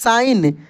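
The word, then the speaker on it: sign: आई जी एन एस साइन देखिए ये जी साइलेंट हो जाता है इसमें इसको हमलोग पढ़ेंगे साइन ठीक ना साइन और एस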